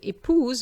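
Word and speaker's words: épouse: it's silent whereas with ipos we have an s between two vowels and it gives us z sound pronunciation for the feminine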